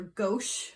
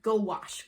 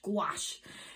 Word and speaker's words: gouache: asked for it i asked for gauche i believe or gouache that's not how you pronounce it squash like go wash gouache so um also in